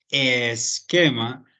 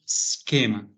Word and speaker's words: schema: No diríamos esquema, sino schema. ¿Sí? El sonido de la S. Schema, schema. ¿Listo?